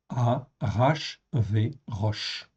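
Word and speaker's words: אחשורוש: Donc ici, vous voyez, ça se prononce en fait ici Arashvérosh.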